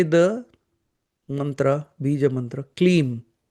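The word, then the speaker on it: Kleem: Here you say the mantra ba mantra clean k l e e m.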